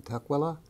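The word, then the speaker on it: Tukwila: of Michigan anyway from the TOA Clinic In Tua Washington yeah it's a strange name it's spelled t k w l a Washington and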